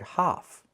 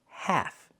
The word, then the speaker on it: half: The word is pronounced half. Use the a sound like black cat. And remember the l is silent.